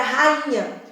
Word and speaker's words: rainha: Pensa na palavra rainha. As sílabas são ra, i, nha. Mas eu não falo i, eu falo in.